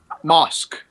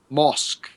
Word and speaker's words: Mosk: Mosk, by the way. well, now, but What's his name? Mosk. mask, Mosk.